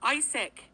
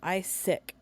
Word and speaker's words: Isaac: and sending them to Isaac on top of that why why do you say his name ISAC isn't his name Isaac not is sick like how desperate are